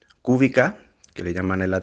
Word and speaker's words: Kubica: en la televisión pues se pronuncia y cubista porque pues porque la ce y la allí se pronuncia así se escribe así pero todas las palabras son llanas entonces excusas el polaco